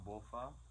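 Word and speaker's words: Balfa: Will Bofa. He pronounced his name and spelled his name Bofa.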